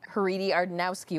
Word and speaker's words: Haridy-Ardanowski: seconds okay hi my name is haridi ardanowski or for short thanks for listening all